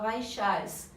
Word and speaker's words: Vaishyas: As pernas se escreve Vaisyas, mas se fala Vaishyas.